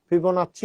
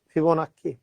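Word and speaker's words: Fibonacci: ফিবোনাচ্চি বা ফিবোনাক্কি দুটাই উচ্চারণ করা হয়। হ্যাঁ, ফিবোনাচ্চি উচ্চারণটা বেশি, তবে স্যার সিরিজের পিডিএফ পাইনি।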